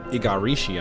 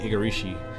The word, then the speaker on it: Igarashi: He's the Igarashi, I think that's how you say it. Koji Igarashi, who's the lead designer and from Konami, formerly with Konami, developing Castlevania.